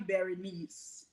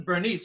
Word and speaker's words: Berenice: So but the name is actually Berenice. You see, honest to God, I thought your name was Berenice, but I said maybe it's because it's spelled Berenice, but Right. maybe she pronounces Bernice, so that's why.